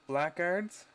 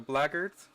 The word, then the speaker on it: blackguards: two lists is uh the blackguards sorry the blagards i i've been saying it wrong obviously for toba